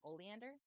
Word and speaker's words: Oleander: And you said it was pronounced oleander?